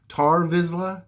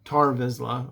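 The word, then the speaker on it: Tarre Vizsla: the lore of uh I believe his name was ter or tar vizla tar vizla I'm pretty sure that's how it's pronounced who was the legendary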